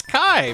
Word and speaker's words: Ki: Yeah, it's pronounced Kai, spelled K-I.